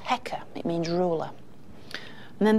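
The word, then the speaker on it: heqa: and that's written with two symbols and that's pronounced hecka it means ruler and then the third of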